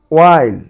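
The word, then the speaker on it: why: ওয়াইল, ওয়াইল, ওয়াইল। ওয়াই, ওয়াই, ওয়াই। এটি কিন্তু হোয়াই হোয়াই পড়ে থাকো, হোয়াই নয় ওয়াই।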